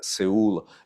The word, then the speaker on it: Seoul: Berlin, and then in Seoul, or Seoul, if you want to pronounce it correctly.